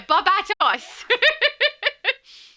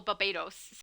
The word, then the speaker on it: Barbatos: I actually I used to pronounce him incorrectly. I misread it and I was just reading it right. I hadn't heard it. So I was saying Barbato Batos or Barbados, something like that instead of Barbatos.